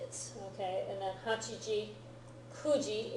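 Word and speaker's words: 九時: Okay, and then Hachiji, Kuji is the other oddball pronunciation.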